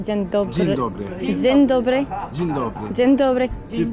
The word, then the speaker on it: dzień dobry: It's a little weird question, but I want to try to speak Polish, and I don't know how to pronounce hello, like dzień dobry. Dzień dobry.